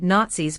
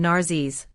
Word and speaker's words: Nazis: a little bit intentional he could never pronounce the word nazis properly instead saying narses on the january 24